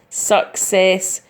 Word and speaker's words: success: spent some time on it's got a hard C and the soft C as you see suck as you see then see ESS SAS success can be broken down like that okay now really all